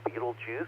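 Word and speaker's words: Betelgeuse: shoulders the brighter one on the left is beetlejuice or beetle guys that's how i usually pronounce it and the other one to the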